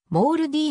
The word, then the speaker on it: MALDI: 一つである日本ではモルディオマルリーと呼ぶことが多いが英語での発音はモール d に近いもルディの開発